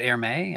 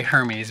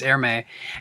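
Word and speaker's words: Hermès: is uh the the is it air may i think it's pronounced air may um i want to say hermes but it's airme and my guess is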